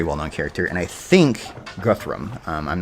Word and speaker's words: Guthrum: we encountered a guy named Guthrum instead of Guthrum, but I suspect it's going to be the same character. This game definitely does Norse pronunciations and Norse spellings as opposed to Old Saxon, because I know that